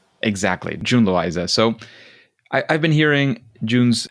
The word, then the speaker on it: June Loiza: Yeah, June Loiza is the English J. Exactly, June Loiza.